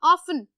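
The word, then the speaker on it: often: ऑफन, ऑफन में भी टी क्या हो जाता है, साइलेंट।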